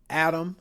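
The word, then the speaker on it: ATTOM: We don't have real time data, but publications like this, Adam, if you want to pronounce it like that. I just spell it out atom.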